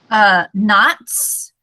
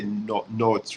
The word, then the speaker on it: knots: Knots. So you will not say notes, right? So there are two things here. K is silent. Yeah. And O sounds more like alif or alif. Yeah. So knots.